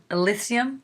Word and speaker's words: Elysium: So I had read that I'm pronouncing that Matt Damon movie is Elysium.